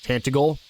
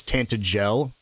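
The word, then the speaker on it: Tantegel: Glad she pronounced that cuz I was definitely going to call it Tantagle, but it's Tantel.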